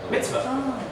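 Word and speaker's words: מִצְוָה: So this actually closes out, makes a closed syllable. Mitz. So the word is now divided like this.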